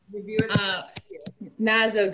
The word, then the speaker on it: Gnazzo: it say where woman Naza group silent G and a double zo group is our handle